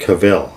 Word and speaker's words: Cavill: It was cool to see Henry Cavill come back. Is it Cavill or is it Cavill? I think it's Cavill.